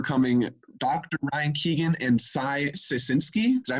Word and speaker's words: Sceisinski: Ryan Keegan and Sceisinski. Did I pronounce that right? It's Sceisinski.